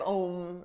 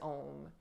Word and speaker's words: om: also pronounced instead of om like rhyming with home it sanskrit people they pronounce it with two syllables ah you'll get it instead of just om and that is called